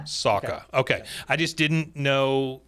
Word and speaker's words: Sawka: Sawka.